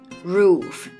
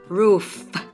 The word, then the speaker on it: roof: ท้าย นะ คะ ภาษา อังกฤษ มี นะ Roof Roof นะ คะ ออก เสียง นิด นึง ไม่ ต้อง ออก เยอะ มาก Roof อย่าง ง นี้ ไม่ ต้อง นะ Roof Roof